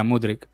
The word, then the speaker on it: Mudryk: Is how do you pronounce that, Alex? Is that Mudryk? Yeah, Mudryk. Mudryk.